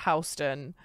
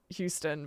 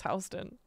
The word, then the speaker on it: Houston: And it's spelt like Houston, but it's pronounced Houston.